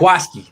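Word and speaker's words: Jaquiski: That's how he pronounces it, correct? Jaquaski.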